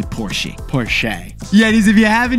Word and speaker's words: Porsche: your name too and if you drive a Porsche or porschea we all know it's really porsi Porche yees if you